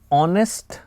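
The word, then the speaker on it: honest: क्या लिखेंगे एन लिखेंगे ऑनेस्ट मैन यहां पर जो साउंड है वो साउंड वावेल की है वो साउंड किसकी है वॉवेल की है यहां पर ह साइलेंट हो जाता है और जो में साउंड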